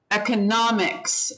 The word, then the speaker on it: economics: was the last word economics economics yeah so the third syllable um let me see